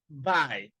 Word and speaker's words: bite: the word bite b-i-t-e so you don't pronounce it by T or B T no the sound of the vowel that comes before the the the silence the consonant and the silent E will be the long vowel sound and that's exactly what